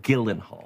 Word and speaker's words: Gyllenhaal: ready hi I'm Jake Gyllenhaal and I'm hosting SNL this week with Camila Cabo Gillan Hall your name is pronounced Gillen Hall I guarantee you it